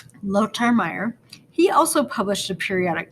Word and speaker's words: Lothar Meyer: guy is german and in german th are like a hard t so his name would be pronounced lotar meyer he also published a